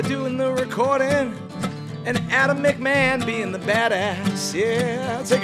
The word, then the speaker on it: McMahon: pronounce that correctly right mcmah right mcmah as long as long as the mick is emphasized right yeah so you